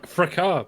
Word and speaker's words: fracas: However, it's pronounced fracas, by the way. I didn't want to interrupt in the middle of a sentence. Yeah, I know, it's a weird one. I don't know why it's fracas.